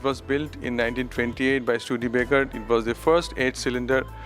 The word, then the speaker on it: Studebaker: And how do I pronounce this? It is a Studebaker. Studebaker.